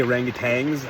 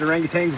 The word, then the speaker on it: orangutan: You should say orangutans. I don't even know. Maybe you pronounce it orangutans, but there's no G in it. So I try to say orangutans, but that just sounds weird. Anyway, so tonight's night 4.